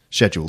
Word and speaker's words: schedule: In fact, pretty much every word that begins with SCH in English is pronounced sk, except schedule.